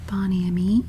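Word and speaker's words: Bon Ami: for the cleaning product Boni of course that's more of the Americanized pronunciation Boni I think the more the French pronunciation would be uh bonami I think I think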